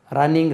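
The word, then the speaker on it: running: அதே ரன்னிங் race சொல்லணும், ரன்னிங் race. Double N உச்சரிக்கக்கூடாது. எழுதும்போது டபுள் என் எழுதலாம், உச்சரிக்கும் போது ரன்னிங் ரேஸ்.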